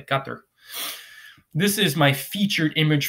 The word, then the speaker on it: Qatar: a mansion in Doha Qatar Qatar I'll say it like the Arabic way cut there this is my featured